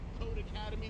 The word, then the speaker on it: Codecademy: word for academy and it's pronounced code academy the same way how do you expect